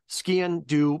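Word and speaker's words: sgian-dubh: just for the listeners um the way you pronounce it's the it basically skan do means black knife um the way to remember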